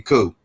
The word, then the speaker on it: coup: Oh, and real quick, uh Bote, you got that that P is silent in coup. You just FYI, that P is totally silent.